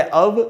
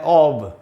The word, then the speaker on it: of: दोस्तों इस वर्ड के दो उच्चारण होते हैं, मैंने यहाँ पे लिख दिए दोनों उच्चारण, एक है अव, दूसरा है ऑब। इसमें फ का साउंड है ही नहीं, तो एफ से जरूरी